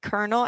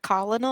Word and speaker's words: colonel: fourth grade teacher when I had to read kernel out loud and I pronounced it colonal and she was like no that's colel I was like there's